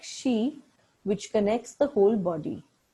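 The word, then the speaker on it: 嘻: And zi, pronounced like she, which connects the whole body.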